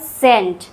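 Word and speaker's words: scent: Example सेंट। इसमें सी का उच्चारण नहीं हो रहा है। सी साइलेंट है।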